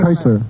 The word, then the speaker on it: Chrysler: out Jaguar all right the car whose name sounds though it is not spelled the same as a famous violinist chry Chrysler Chrysler for Five Points